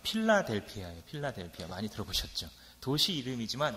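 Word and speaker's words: φιλαδελφία: 이 우애라는 말은 원어 그대로 발음해보자면 필라델피아예요.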